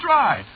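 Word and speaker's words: Drei: Yeah, but of course that ain't the way you spell it. See what? No, you see it's a German name. Is it? Yeah, sure. Spelled D R E I.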